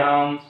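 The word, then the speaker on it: hymn: होगा इसमें डी खामोश हो जाता है और साइलेंट एन में जैसे कंडेम करते हैं हम दामन है दाम होगा हैमन है हैम होगा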